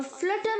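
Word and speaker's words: flutter: या थरथराहट लेकर आना ध्यान रखिएगा फ्रूट में जो यू है डबल ओ की तरह साउंड होना चाहिए और फ्लटर में जो यू है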